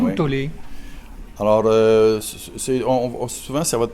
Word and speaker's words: Tolle: On dit Tolle ou Tolle? Alors, souvent, ça va de Tolle. Tolle? Oui. Bon. Il y a aussi Crayon ou Crayon. Enfin, un coup, ça s'écrit K-R-Y-O-N et un coup, ça s'écrit K-R-Y-E-O-N.